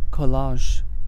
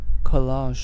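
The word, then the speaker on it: collage: next word is সি ও এল এল এজি খলাস খলাস এটার মানে হচ্ছে একটা আর্টওয়ার্ক যেটা আরো অনেকগুলো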